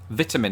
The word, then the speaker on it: vitamin: but i do but the biggest difference here of course is how we pronounce the first i in the word so as you heard